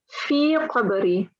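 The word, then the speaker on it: في قبري: We don't have a lam in between here, so it's Allahumma anis wahshati fi qabri, not fil, yeah? Fi qabri.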